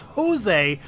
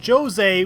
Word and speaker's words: Jose: Jose, and before anyone corrects me and says that the correct pronunciation is Jose, the characters in the game call him Jose with a J.